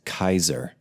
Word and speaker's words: Caesar: you know that like caesar like caesar salad or caesar augustus if it's spelled with a c even though it's spelled with a c it's actually pronounced kaiser like kaiser wilhelm it'd